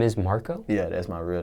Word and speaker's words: Marqo: your stage name how do you pronounce your stage name Marco Marco woody q do people ever mispronounce it